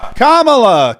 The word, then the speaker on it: Kamala: to pronounce kamala's name commala Kamala rhymes with communist Comm that's the easy way to remember it it's not Kamala it's